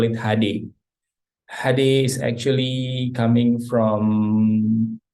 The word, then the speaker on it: Hade: But we call it Hade because it's not just H and D, because Indonesian bahasa pronunciation Hade, but we call it Hade because Hade is also having a meaning in Indonesia.